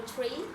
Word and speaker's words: tree: in my mind the word tree you know tree so mostly mostly all of people always PR three three three three right so in that book